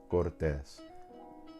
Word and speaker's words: Cortés: Same thing for sartén, Cortés. The rule states if a word ends in an N or S, the second to the last syllable should have the stronger stress.